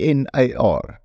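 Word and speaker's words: Gnar: book called Nar country it's spelled g n a r Nar country growing old staying red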